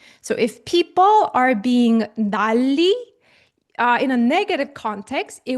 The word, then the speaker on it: 난리: So following the consonant assimilation, this is pronounced like 난리.